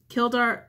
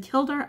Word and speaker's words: Kildare: just came through Bridget's temple is in the killed are is in Kildare Ireland so I find mispronounce that guys she's celebrated worldwide on February